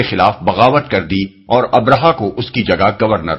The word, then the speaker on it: ابرہہ: مورخین ابراہام لکھتے ہیں۔ ابرہا غالباً اسی کا حبشی تلفظ ہے کیونکہ عربی میں تو اس کا تلفظ ابراہیم ہے۔ یہ شخص رفتہ رفتہ